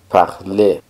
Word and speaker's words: parlez: Y para decir usted habla, sería vous parlez. En este caso también suena parler, pero al final se escribe EZ.